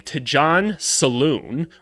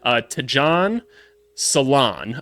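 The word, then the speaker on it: Tidjane Salaün: Tidjane Salaun. I already messed it up. God dang it. Tidjane Salaun. I believe that's how you're supposed to say it. They told me it's like nail salon, and they said his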